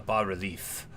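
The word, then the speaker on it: bas-relief: It's not a bar relief. The S is silent. It's French.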